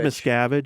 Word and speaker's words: Miscavige: David Miscavige.